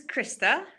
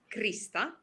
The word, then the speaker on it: Krista: My name is Krista, or as we say in Finnish, Krista, because we pronounce our R's very prominently.